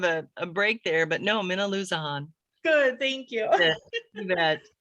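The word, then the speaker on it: Minnilusa: You didn't trust yourself, so you made kind of a break there, but no, Minaloosahan.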